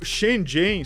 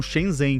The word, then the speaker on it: Shenzhen: Mas o Shenzhen, só pra concluir, se você não olhar pro lado pra atravessar, você é atropelado.